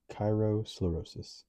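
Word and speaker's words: kairosclerosis: than an aftertaste um ancient Greek chyros a sublime or opportune moment plus sclerosis hardening pronounced Cyro sclerosis sclerosis okay so I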